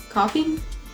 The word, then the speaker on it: Ko-fi: Coffee? A friend told me it's coffee, but then why is it spelled like that?